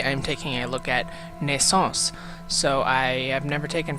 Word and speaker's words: Naissance: Hey everybody, this is IndieGeek here, and today I'm taking a look at Naissance. So I have never taken French, so I had to look up how to pronounce the title as well as what it